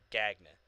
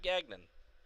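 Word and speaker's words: Gagné: it's cody or gagne g-a-g-n-e gagne gagne or gagne or gagnon i'm like where'd you get the nun where'd he get the nun it's not gagnon it's gagne it's french yeah there's some that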